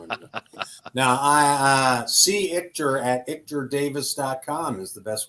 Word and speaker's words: Ichter: It's not ITCH. It's ICHTER. Before we went live, I asked how to pronounce it. I said it wrong. Yep. It's like Victor without the V.